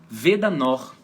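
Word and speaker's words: weder noch: gente isso aí ó vedanor qual o significado desse conector vedanor Veda no a pronúncia assim ó Veda final som de a Veda no Veda no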